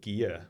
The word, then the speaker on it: Gigha: McSporran basically the first trace of it was in the 1600s on an island called Gia, which is spelled Gigha on the west coast of Scotland.